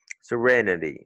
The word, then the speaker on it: serenity: C'est pas sérénité en français, mais c'est le même mot, sérénité, mais la prononciation change. Serenity. Si quelqu'un le dit vite dans une phrase, tu vas pas l'entendre, tu sais pas comment détacher les syllabes et laquelle des syllabes est accentuée. Donc, it's the re, serenity.